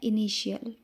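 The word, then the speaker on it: initial: देखिए कैसे इनिशियल जो हमारा टी है टी के बाद क्या आ गया? आई ए तो हमने क्या पढ़ा? इनिशियल यानी प्रारंभिक।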